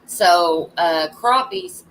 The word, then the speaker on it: crappie: The pronunciation of the English name is crappie. It's a very similar pronunciation as to the original French word.